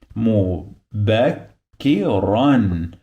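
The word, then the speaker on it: مبكرًا: this ra, this letter, it must have N in the end, which is the sound of noon. So this part now it is run. Mubakkiran.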